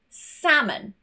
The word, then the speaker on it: salmon: L is silent when it is in the middle and immediately before it is an A, an O, or a U. For example, salmon. Not salmon, I've heard this many a time, salmon.